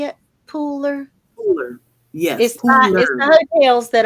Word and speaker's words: Pooler: um Pooler is that how you say it Pooler Pooler yes the hotels that are by the